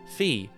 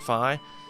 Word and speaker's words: Fi: my personal design designation fee or phi however you want to pronounce it i'll pronounce it phi is the name i